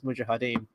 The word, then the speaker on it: mujahideen: then the third and final time he actually says it in the film properly is mujahideen um hey Dave how